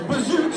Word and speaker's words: Bijou: Well, Bijou rhymes with true, and I'm self-centered, so it's Bijou Chocolate.